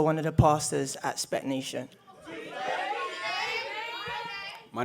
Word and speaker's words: SPAC Nation: Can I get the pronunciation right? SPAC Nation, Spark Nation? SPAC Nation.